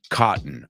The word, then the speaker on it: cotton: cotton cotton forgotten curtain right CA cotton the American way try it try it